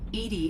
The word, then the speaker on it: EDI: is a jar why are you named Ed Ed is the phonetic pronunciation of Eed that that is an acronym